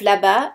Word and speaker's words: là-bas: The S of là-bas is silent.